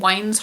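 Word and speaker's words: Waines: It's called Wayne's Hotel, but it's spelled W-A-I-N-E-S.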